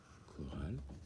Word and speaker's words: chorale: Alors tu vois, ce qu'on va faire, c'est que pour bien repérer ces mots qui s'écrivent CH puis qui font le son que, on va les souligner. Chloé chante dans la chorale.